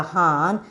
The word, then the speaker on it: horn: Here the R gets silenced, but we want to when you are pronouncing, when you are telling the spelling, you want to tell the R spelling, but when you are pronouncing, you should silence the R.